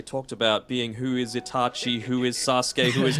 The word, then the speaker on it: Itachi: It's not Itachi. Get rid of the H. It's just Itachi.